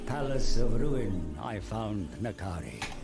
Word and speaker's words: N'Kari: of ruin i found nakari ah so nakari okay i always thought i was in khari this whole time a lot of people